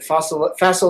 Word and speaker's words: Faisal: So, so is it Faisal like Castle? That's it. That's it. All right. That's it. Faisal Gill.